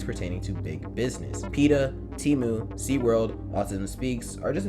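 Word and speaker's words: Temu: of that experience right that company is called teu and at least that's how I'm going to be pronouncing the name t e m u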